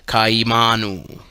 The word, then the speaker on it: Kaimanu: is pronounced k Y kaimanu is pronounced Ka Manu or if spoken rapidly the two initial vowels sounds slur into Kai rhyming with hi the incantation should be